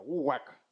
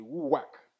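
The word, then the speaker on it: רוּחַ: je prononce comme ça, ouak. C'est ma banon, botamo, ma libre, ma banon, comme un orthographe là. Il est écrit R, O, U, A, H. Il est prononcé ouak.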